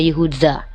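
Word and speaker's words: يهوذا: Perlu diketahui bahwa "Yahudi" adalah nama sebuah klan, suku, atau kelompok etnis yang berasal dari kata Yehuda, atau dalam bahasa Arab, pengucapannya adalah Yehudza.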